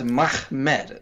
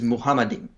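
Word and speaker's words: מחמד: The first letter is a mem, and the second letter is a mem. Last letter is a dalet, so you just pronounce those letters Mahmed, like it's.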